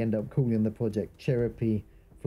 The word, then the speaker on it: Cheropie: I've heard people mistake my game's name for Cherry Pie instead of Cheropie.